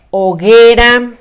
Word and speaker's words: hoguera: Por ejemplo, yo te voy a decir una palabrita que empieza con O, la sílaba O, pero con la mudita. Hoguera.